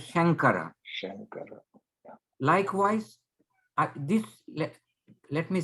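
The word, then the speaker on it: शङ्कर: Now you know you are not pronouncing Shamkara, it's pronouncing as Shankara.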